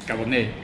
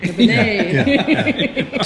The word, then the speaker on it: Cabernet: pestered him, to say, how do I pronounce Cabernet? He went, and it is Cabernet. Cabernet. Just like the wine.